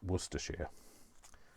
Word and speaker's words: Worcestershire: walster walstershire it's it's worcestershire we say shia rather than shire so um and when